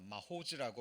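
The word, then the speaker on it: מָחוֹז: 자, 마호즈라고 발음이 됩니다.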